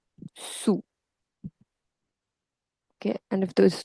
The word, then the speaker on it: sous: And the pronunciation, wherever there is u, see, sur and dessus, ou is ou, so sous and au-dessous.